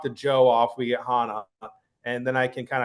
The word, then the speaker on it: Hanna: So, it's it's and you know it's pronounced Hana golf and generally almost everyone gets that wrong